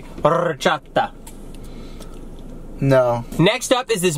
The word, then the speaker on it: horchata: You really don't want this horchata? Say it right, and you can have it. Horchata. Horchata. I'm rolling my R's. Say it together. This is a pen. 1, 2, 3. Horchata. No. You're saying or.